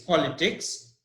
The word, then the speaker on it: politics: word that is politics the word stress is on the first part P P o for politics the word is politics and it has no